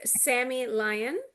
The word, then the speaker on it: Sammy Lyon: Today we are blessed with Sammy Lion. Am I pronouncing that correct?